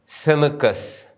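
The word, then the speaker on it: ܣܡܟܬ: അക്ഷരം എഴുതുന്ന രീതി ശ്രദ്ധിക്കുക സെമിസ് ഇതിൻറെ ഉച്ചാരണം സ എന്നാണ് ഇംഗ്ലീഷ് അക്ഷരമായ എസ് ഉച്ചരിക്കുന്നത് പോലെയാണ് സെമിസ് ഉച്ചരിക്കുന്നത് ഇതിനു മുമ്പ് കണ്ട സൈൻ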